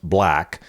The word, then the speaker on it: 6LACK: 6LACK, which I believe is pronounced black.